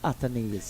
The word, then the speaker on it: Athanaze: and he said my name is Athanaze.